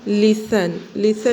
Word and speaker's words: listen: लिसन में T pronounce नहीं होगा, लेकिन लिखते टाइम पे LISTEN लिसन पढ़ेंगे।